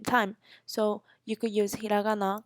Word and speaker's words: hiragana: have three major writing systems which are called hiragana Katakana kanji hiragana and Katakana are basically um called the Kana system is the pronunciations of the words so if you wanted